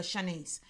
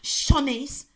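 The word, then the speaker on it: Siannise: her name correctly she hates it when people call her Shanice is Shaunie's so he got her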